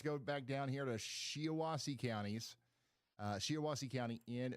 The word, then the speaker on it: Shiawassee: They're saying it's pronounced Shiawassee and Otsego.